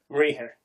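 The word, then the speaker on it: mruigfher: M r UI g f h er you pronounce it say one more time m r UI g f h er rear of course it okay if you are a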